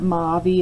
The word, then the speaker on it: movie: And this one's really odd, right? It's not movie, it's not movie, it's movie. So this one made the sound of O right there, really breaking our patterns.